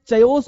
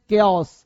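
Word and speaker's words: chaos: यहाँ पे चयोस बोले, लोग बोलते हैं चायोस, से चा होता है ना, ए ओ चायोस, है ना। तो चायोस नहीं बेटा, बाबू ध्यान दो, चयोस नहीं बोलते हैं। चयोस का हिंदी क्या होता है सर, चयोस नहीं, पहले तो चयोस ठीक करो, इसे बोलते हैं केओस।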